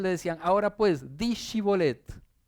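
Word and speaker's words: שיבולת: quiénes eran del otro, los ponían a pronunciar shibolet. Y había algunos que decían cibolet porque lo pronunciaban diferente.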